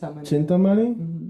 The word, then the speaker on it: Chintamani: The money the money No, it's I pronounce it cintamani. Okay. Is that how you say it? Yeah, but it's like chin. No, it's chintani. Chintamani.